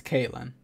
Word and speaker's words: Caitlin: So wait, Catlin or Caitlin? I need someone to tell me. What am I doing? Survival. It's Caitlin. Okay. So I wasn't saying it wrong.